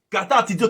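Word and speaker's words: καταρτίζω: Katartizo qui c'est K-A-T-A-R-T-I-Z-O, mais qui prononce katartizo, qui signifie compléter par le travail continuel et exagéré, rendre parfait.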